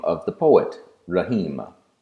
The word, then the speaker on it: Rahim: name of the poet Rehema rahim consists of three syllables raah he and ma rough-ins in the short